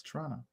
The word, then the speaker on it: Toronto: I mean, Toronto, remember the second T is silent. It's Toronto.